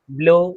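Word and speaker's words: blow: बस समझ में आ गई कि डब्लू अगर लास्ट में है ओ के साथ, तो डब्लू हमारा साइलेंट होता है। ठीक है, स्नो, ब्लो, ग्लो, एलो, ठीक है, इस तरीके से प्रोनाउंस करते हैं।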